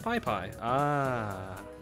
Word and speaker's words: Piss Piss: And Piss Piss, or Pee Pee, is pronounced Pie Pie.